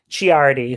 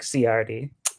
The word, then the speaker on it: Ciardi: how much he loves disney plus yes mark chiari who i've mispronounced mark ciardi not to be confused market okay what's our